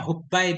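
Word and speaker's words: حبى: Bacanya Hubbai binti Hulail al-Khazaiyyati.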